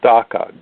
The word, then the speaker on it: DACA: In fact, I was just interviewed by a young lady, a reporter from New Zealand today, about DACA, D-A-C-A, and I jokingly said, yes, it rhymes with caca.